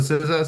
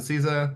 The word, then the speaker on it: CISA: CISA kev is sure I pronounce a SIZA. Some people pronounce it CIZA. There's no right way to say it.